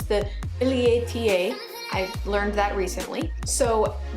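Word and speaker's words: billietiae: the variegated version I know that the variegated Billy tie is actually I should pronounce it properly it's the Billy ata I learned that recently so that plant is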